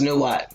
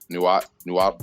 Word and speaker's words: Nahuatl: I think it's pronounced Nuat. I think that's how James said it. Yeah. Oh yeah, you're right. Nuat. Is that L in it? Okay. I'm not touching that L.